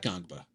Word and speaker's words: Ngongba: So, I can alert the the just like the N is silent. So, just the N is silent. Gongba. Pat Gongba. Pat Gangba.